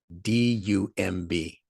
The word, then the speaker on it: dumb: thinking about first okay d-u-m-b pronounce that um we say dumb no so to be